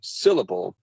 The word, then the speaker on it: syllable: So syllable. The that first syllable, or the first syllable of syllable, is stressed.